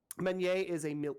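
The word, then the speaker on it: meunière: It is a French word, which means that I am pronouncing all the letters way too much and not enough simultaneously somehow. Meuniere it means the miller's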